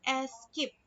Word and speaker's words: Esc: ESC, singkatan dari SCP. Nah, dibacanya itu escape.